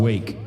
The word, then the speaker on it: RWAKE: It's pronounced Wake, but it looks like RWAKE, the Arkansas band.